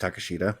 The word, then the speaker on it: Takeshita: It's actually pronounced Takashita, but all right.